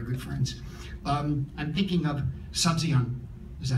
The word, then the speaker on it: Sabzian: I'm thinking of Sabzian, is that how you pronounce it?